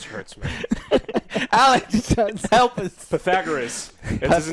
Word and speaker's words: Pythagoras: it wrong this hurts me Alex help us Pythagoras that's his name pum theorem all right we're